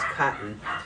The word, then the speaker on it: Coton: a little bit finer katans are very soft uh the word Katan um which most people pronounce as cotton um actually means cotton